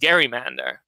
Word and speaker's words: gerrymander: it was originally pronounced gerrymander as you might suggest from this portmanteau of the last name of Governor Gary and the salamander that this District was